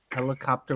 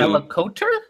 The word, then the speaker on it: helicopter: But for fuck's sake, people pronounce helicopter with the P, so... Helicopter with the P? Yeah, you're not supposed to pronounce... The P in helicopter is actually silent. It comes from terra, the same as in that pterosaur.